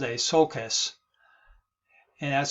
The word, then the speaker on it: sulcus: of those one sokai is actually called a sulcus and that's spelled uh s-u-l-c-u-s okay so just be aware